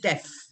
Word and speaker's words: deaf: You will go deaf. Deaf. Deaf is the pronunciation.